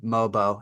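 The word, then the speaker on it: Mogbo: one I really like for them is Jonathan mobo I checked the pronunciation that's the pronunciation yes sir Pogo mobo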